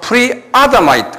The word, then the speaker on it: Pre-Adamite: 그래서 Doctrine of Pre-Adamite, 액센트가 아다마이, 액센트가 아야 있어요. 그래서 Doctrine of Pre-Adamite 그래요.